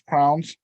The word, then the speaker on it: crayons: of colors but a box of crayons which some people pronounce crowns becomes what children know as